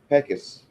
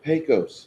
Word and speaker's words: Pecos: in the West, and everybody mispronounces Pecos. It's Pecos.